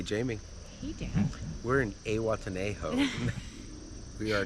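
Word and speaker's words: Zihuatanejo: We're in Awatenejo. We are not. Say Watanehu. Say Watenejo. Say it right.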